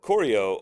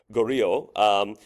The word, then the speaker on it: Goryeo: On the one hand, this means that the new kingdom of Koryo or Goryeo, basically, again, it's just a pronunciation difference, but the new state is a tribute state of the Tang.